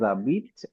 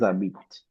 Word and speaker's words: habitent: and then we have ils habitent, elles habitent. Okay. ENT is never pronounced in the words.